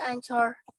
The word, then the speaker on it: anchor: Jadi bacanya anchor. Ya, walaupun kalau di Inggris ya R-nya nggak disebutkan ya, tapi kita ya tinggal nyamannya aja bacanya pakai yang pakai R atau enggak ya.